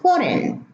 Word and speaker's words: foreign: as an I, but except in foreign, the EI, we have E, foreign, not ein.